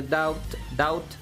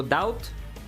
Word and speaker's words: doubt: A silent B in the doubt. So doubt? And stop the T sound short.